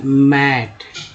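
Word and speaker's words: mate: लेकिन जैसे ही इसमें ई लग गया तो वही ए जो है, यही ए जो है एक के रूप में हो गया, ए के रूप में ना होकर एक के रूप में। तब हो गया क्या उच्चारण हो गया? मेट। क्या हो गया? मेट हुआ ना, मेट।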